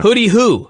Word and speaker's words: Hooty-Hoo: Hooty-hoo. Okay. But they pronounce it hooty-hoo.